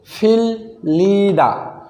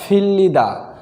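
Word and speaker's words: 빌리다: বর্ণের উচ্চারণ একই হবে যেহেতু বর্তমানে বাচ্চিমে ল আছে তাই এটা বর্ণ কিন্তু একই তাহলে এটাও ল হবে র না হয়ে ল হবে তাহলে সঠিক উচ্চারণ হবে ফিল্লিদা ধার দেওয়া ফিল্লিদা ধার দেওয়া বুকদা ভাজা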